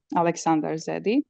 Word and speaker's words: Aleksandar Zedi: So today we have with us a software engineer, Aleksandar Zedi. Am I pronouncing your name right?